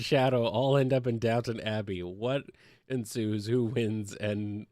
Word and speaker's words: Downton Abbey: Well, knowing all I know about Downton Abbey is that you pronounce it Downton Abbey because it's British. I prefer Downtown. I prefer Downtown Abbey.